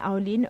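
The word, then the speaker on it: Alainn: untuk makluman para pendengar aulin tu ejaannya adalah a l a i n n ya kan sebutan aulin tapi ejaannya adalah a l a i n n it's actually an Irish word for beautiful Oh oke so a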